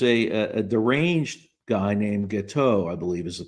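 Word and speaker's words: Guiteau: there there was a a deranged guy named gateau I believe is the pronunciation who was from New York and he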